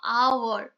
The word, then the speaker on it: hour: hour, আমি কিন্তু mistakes যেখানে করো সেখানে বলে দিয়েছিলাম আওয়ার, আওয়ারের উচ্চারণটা আ আসছে, তাহলে এখানে অ্যান হবে।